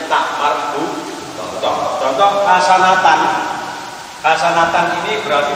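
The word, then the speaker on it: تاء مربوطة: Pokoknya sampai maka tak yang dibaca, tulisannya tak tapi membacanya hak. Itu namanya tak marbuthah.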